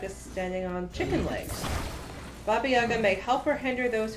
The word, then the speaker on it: Baba Yaga: Yaga, the stress falls on the last syllable. Baba Yaga.